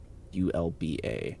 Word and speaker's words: Ulba: pronounce his name again it's Alba UL LBA ulba yes Alba could you come here